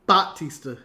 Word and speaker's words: Batista: it was actually how his name is actually pronounced Batista Batista yeah so I think it's one of